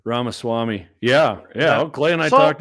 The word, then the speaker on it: Ramaswamy: I don't even know how to pronounce his last name. Ramaswamy.